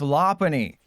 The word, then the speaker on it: Lopunny: It's pronounced Lopunny cuz it's a lot bunny.